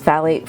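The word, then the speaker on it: phthalates: And actually, um, along those lines, too, the scent that I use is phalate free, which is a chemical. It's spelled P H T H A L A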